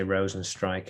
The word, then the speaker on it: Rozenstruik: Always bugs me when people say Rozenstruik, a bit of Dutch pronunciation for you there.